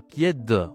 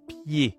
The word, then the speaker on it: pied: C'est marrant, on dit pas piè, on dit pied. E D ça fait E. Bon et ben c'est la même règle. Encore une fois le Z, le D, on ne doit pas le prononcer en français.